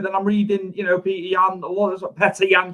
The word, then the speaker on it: Petr Yan: Some people are making, a case for Sterling, but then I'm reading, Petr Yan, Petr Yan, should I say, not Peter. Petr Yan.